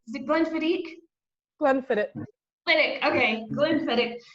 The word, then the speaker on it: Glenfiddich: Tracy, do I pronounce that right? Is it Glenfiddich? Glenfiddich.